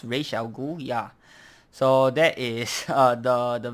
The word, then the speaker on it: Ra's al Ghul: I think it's pronounced Ra's al Ghul, yeah.